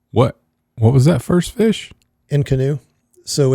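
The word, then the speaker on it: inconnu: And I can't tell you exactly how to spell it. It's not spelled like in canoe.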